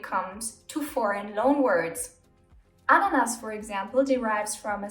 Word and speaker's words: Ananas: Ananas, for example, derives from a South American native word. The A is pronounced short, so the word should be written ananas.